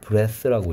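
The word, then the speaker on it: breath: 요거 브리드 같은 경우에 요걸 스펠링 brath 하면이 a의 발음이 a로 바뀌고 얘는 쓰바람돼서 프레스라고 읽고 얘는 명사 숨 호흡이라 그랬고 여기다 e를 붙이면 ea의 발음이 e가 되고 th의 발음은 드가 된다 했어요 숨쉬기 위한 산소를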